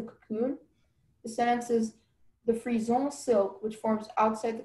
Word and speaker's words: frison: The sentence is, the frison silk, which forms outside the cocoon, is too coarse to make any elegant dress.